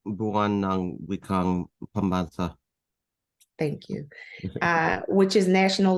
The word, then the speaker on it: Buwan ng Wikang Pambansa: Wang Wakang Pambansa, I think. Am I saying that right, Randy? It's Buwan ng Wikang Pambansa.